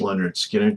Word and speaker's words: Lynyrd Skynyrd: Uh, so we have a bunch more songs off of uh, pronounced Leonard Skinner to close out the album.